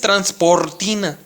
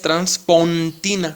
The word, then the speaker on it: Transpontina: Ahorita explicamos qué significa, que no es transportina, con R, transportina. Ojo, es su nombre de Santa María es Transpontina, con N, Transpontina.